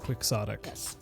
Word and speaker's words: quixotic: quebec no no but in english it is actually pronounced quixotic don quixote we do